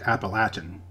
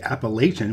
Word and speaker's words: Appalachian: mispronounce things on this channel but the correct pronunciation of the mountain range is in fact appalachian people in the north and west will usually say appalachian which hurts my ears to even say that